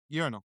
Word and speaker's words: urinal: Urinal.